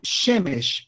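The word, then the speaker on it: שמש: Shemesh, por exemplo, não dá para fazer tão agudo, mas a tônica está aqui na primeira sílaba. Shemesh significa sol em hebraico.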